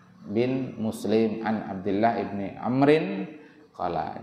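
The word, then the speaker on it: عمرو: An Bashir bin Muslim an Abdullah ibni Amrin qala. Jadi kalau ada wawunya itu bacanya Amrun, Amron, Amrin. Kalau tidak ada wawunya Umaru, Umara, Umaro.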